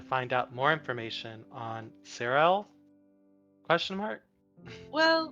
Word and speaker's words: Cyril: And I think she might be our person we need to find out more information on Cyril? Question mark? Well, Pronunciation check? Surreal.